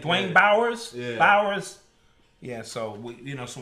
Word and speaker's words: Bowers: You know, that's kind almost sound like Bowser. When I was in school, that's how they used to. That's how they used to pronounce my name. Dwayne Bowers.